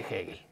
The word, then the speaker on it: Hegel: escribe e no perdón h e g e l egel no pero se pronuncia hegel por clar No porque